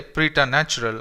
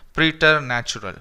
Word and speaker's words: preternatural: So here the second R can be silenced, okay? You can say preternatural, or if you want you can pronounce that second R as well and you can say it preternatural, okay?